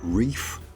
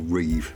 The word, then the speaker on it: Ribe: for Denmark's oldest town, Ribe. That's what we were told is the pronunciation, either Reef or Reeve, depending on if you live there or not.